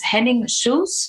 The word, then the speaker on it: Henning Schulze: So today our guest is Henning Schulze. Am I pronouncing that correct? Yes.